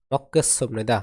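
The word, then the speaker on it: 먹겠습니다: মানে কি ঝাল মক্কেসনিদা এখানে এর উচ্চারণ হবে মক্কেস নিদা এই গিয়ে অক্ষের উচ্চারণ হবে ক এই গিয়ে অক্ষের উচ্চারণ হবে কি ক বাসিমের রুলসের ক্লাসগুলো যারা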